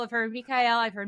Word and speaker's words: Michael: But technically, the correct version would be Michael. So the soft like Yeah, CH Exactly. But Michael.